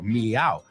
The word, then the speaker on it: meow: Claro, meow.